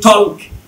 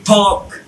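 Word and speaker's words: talk: হ্যাঁ, এটা কিন্তু আমরা কি জানে চিনি, যারা একেবারে পারি না তারা বলি টক, আর যারা টুকটাক পারি তারা বলি ঠক, কিন্তু এর আসলে টক না, এটা হচ্ছে ঠোক, ঠোক।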